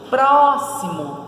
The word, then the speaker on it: próximo: São 3 sílabas, então é trissílaba. Próximo, tá na antepenúltima a sílaba tônica, então é proparoxítona.